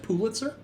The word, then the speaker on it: Pulitzer: Germany, our new friend, Pulitzer. Is that how you pronounce it? Pulitzer. Yeah. Yeah. Pulitzer.